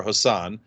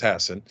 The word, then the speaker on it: Hassan: versus or as I used to call her Hassan but it turns out it's pronounced Hassan um so uh versus Don Bolduc Don uh